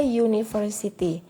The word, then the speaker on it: university: bukan huruf awal kata contohnya a university di sini University meskipun tulisannya ini Huruf pertamanya adalah huruf vokal Tapi bacanya bukan University tapi University sehingga bunyi